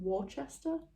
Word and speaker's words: Worcester: Philip Cook of, I think you pronounce it Worcester?